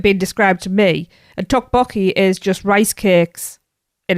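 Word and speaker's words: 떡볶이: And Tracy, you're going to have to tell us how to pronounce this one. It's Tteokbokki.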